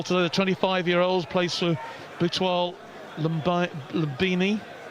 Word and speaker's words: Butwal Lumbini: The 25-year-old plays for Butwal Lumbini. Butwal Lumbini.